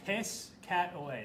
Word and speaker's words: Piscataway: okay say that again Piscataway New Jersey Piscataway piscat New Jersey piss cat away there we go phonetically all righty there you